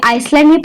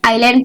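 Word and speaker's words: island: 11 what न आईलैंड ये आइसलैंड प आइलैंड पढ़ते है य पर ए साइलेंट होता है एन आइलैंड द पार्ट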